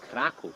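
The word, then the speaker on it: Kraków: go to find out so guys krakow actually krakow in polish pronunciation it's called like that because of the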